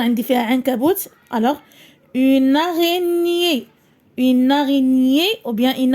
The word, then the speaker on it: araignée: La liaison, une araignée, une araignée.